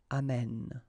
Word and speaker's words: amène: And then it will change, of course, the pronunciation, because you will have this e sound open, amène, okay? Amène, tu amènes, il amène.